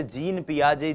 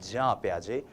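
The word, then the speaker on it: Jean Piaget: प्याजे जी हां हम इनको हिंदी भाषी लोग अक्सर जीन पियाजे जीन पियाजे कहते हैं लेकिन ये जो जीन शब्द है जे ई ए एन जो ये स्पेलिंग है ये स्पेलिंग जो है इसका उच्चारण जब आप स्विस भाषा में करते हैं यूरोपियन कंट्रीज में करते हैं फॉरेन ऑथर्स को पढ़ते हैं तो वो होता है जां प्याजे तो हम भी जां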